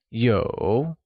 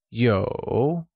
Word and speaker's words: 有: To have translates to 有, and is pronounced with a falling, rising tone. Let's hear you say 有.